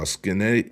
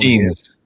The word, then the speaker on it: Skenes: Pirates ace Paul uh Skennett- uh Skennett's uh backed the young star calling Skenes. Skenes. Skenes? Yeah. How the you pronounce that Skenes without two e's?